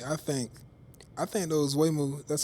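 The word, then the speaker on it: Waymo: Me personally, I think I think those Wayu, that's how you pronounce it. Wayu.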